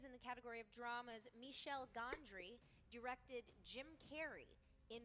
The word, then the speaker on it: Michel: I like how you put just enough of a French accent on there. Michel. Yeah. Yeah. That is how you say it. I just always said Michelle Gondry, and I thought it